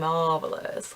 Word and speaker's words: Mauvelous: this shadow called, well, it says it's called Mauvelous, but I imagine that they expect people to pronounce mauve as mauve, so it would be Mauvelous, which I really like.